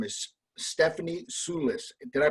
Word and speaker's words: Stephanie Soulis: the little mushroom catering company her name is Stephanie Sulis did I pronounce it correctly that's brand jam perfect okay